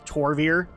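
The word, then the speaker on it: Tol'vir: the Obsidian destroyers or the renegade toll beer or what did he call I think was the Tor beer is how they say it now this is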